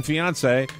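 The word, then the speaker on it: fiancé: Well, from her loving fiance, which rhymes with Beyonce, Todd Erdman.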